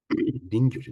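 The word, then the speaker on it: 人形: 맨 처음에 닌교가 뭔지 몰라갖고, 닌교. 그러니까 이제 토이 얘기를 해주더라고요. 그래서 이제 가만히 생각을 해보니까, 사람 인자가 얘네들이 닌 아니면은 진으로 발음을 하죠.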